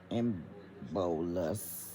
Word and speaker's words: embolus: So, an embiotic stroke occurs when a blood clot or debris, embolus, that's how they're trying to say that you're supposed to pronounce it, travels from one part